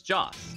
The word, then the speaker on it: Joss: And I said, no, it's Joss, like Joss Whedon.